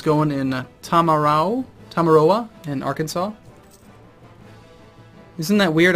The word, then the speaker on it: Arkansas: in Tamaro tamaroa in Arkansas isn't that weird I actually know how that's pronounced because it's in the United States Aransas it's Arkansas I don't know why doesn't look like Arkansas guess we Grant Aid